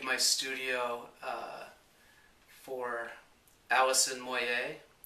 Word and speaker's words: Moyet: studio uh for allison moyet or moyet as people mispronounce her name i guess depending if where you're from who uh was the